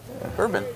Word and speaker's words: Boerboon: Boerboon. Bourboon. I like pronounced like bourbon. And not spelled the same. But not spelled quite the same.